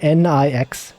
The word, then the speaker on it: Nix: It's spelled N-I-X, Nix.